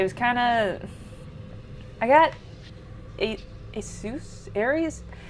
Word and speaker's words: Asus: I got Asus? Aries? It's A-S-U-S. Asus, I think is how you say the company.